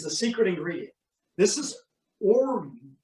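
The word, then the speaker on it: orgeat: then this is the secret ingredient this is orac It's a a Turkish uh syrup made from almonds it's spelled o r g a t but it's actually pronounced orzac it has a very almond bubblegum flavor if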